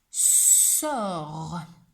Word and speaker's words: sort: Et à la fin, il y a une lettre qu'on n'entend pas, le T, parce qu'une sorcière jette des sortilèges. Il s'écrit, mais ne s'entend pas.